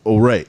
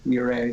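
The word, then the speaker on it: Ouray: And Practice is Perfect, number 2, 714, number 3, and Ore. Am I saying that right? Ore? Is that the? It's pronounced Ure.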